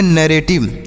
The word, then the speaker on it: narrative: ए की मात्रा पढ़ेंगे, RR से रॉ पढ़ेंगे, एक आर साइलेंट रहेगा, ए से ए की मात्रा, टी से पढ़ेंगे टॉ, टी से टॉ, आई से छोटी ई की मात्रा को उच्चारण करेंगे वी ई से वाह, तो इसे पढ़ेंगे नैरेटिव।